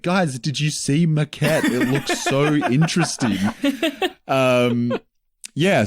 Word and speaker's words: Maquette: chill, and so I decided to dive into Maquette. Nice. I don't know if I'm pronouncing that right. I believe that's You nailed it. pronunciation. Yeah, Maquette, Maquette.